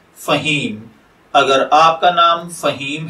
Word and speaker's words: Faheem: फहीम की उर्दू अरेबिक इमला में जो हुरूफ बितरतीब इस्तेमाल होते हैं वो हैं फा, हा, या और मीम, जबकि इंग्लिश में इसके spelling F ए H double E एम के साथ किए जाते हैं।